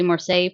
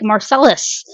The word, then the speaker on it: Marseille: Um, which is really funny because if you just say the de marseay part, I will pronounce that in a stereotypical Americanized way. Like there's past live streams of me doing this where I'll be like Marcelis, which is not how you say it.